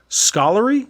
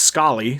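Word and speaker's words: Scollay: like yeah so uh i looked it up and it's pronounced scully so mayor murphy and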